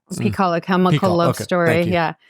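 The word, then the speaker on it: PiHKAL: about it in peall we we pronounce it peall peall a chemical Love Story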